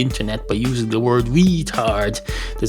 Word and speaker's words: retard: It's not retard, it's retard.